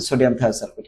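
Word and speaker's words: sodium thiosulfate: যেমন hypo hypo তাহলে সোডিয়াম থায়োসালফেট কি এটার উচ্চারণ হবে সোডিয়াম থায়োসালফেট ক্যালসিয়াম কার্বোনেট এটাকে বলা হয় লাইমস্ট স্টোন তারপরে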